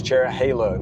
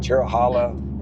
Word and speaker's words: Cherohala: And the Nantahala National Forest. Hala. So it's Cherohala, not Cherohala or Cherohala.